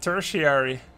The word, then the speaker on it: tertiary: Tertiary. Yeah, I just learned how to say tertiary. Apparently it's tertiary. Primary reason. Secondary reason. Tertiary. That is weird pronunciation.